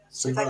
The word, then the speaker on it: Suva: I think that's how it's pronounced. Suva.